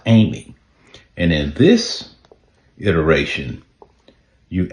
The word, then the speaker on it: AIME: Pronounced Amy.